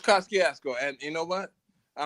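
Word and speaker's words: Kosciuszko: And no, no disrespect to the Polish, our Polish friends, but it's Kaskiasco. It's Kaskiasco. And you know what? I don't care if they feel disrespecting or not. It's Kiasco because just like you said, it's it's history.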